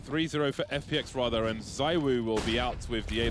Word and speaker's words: ZywOo: and said it is ZywOo, not ZywOo. But that's not even true, though. I know, right? You hear the French commentators say it. Because the Y you pronounce E in French, so.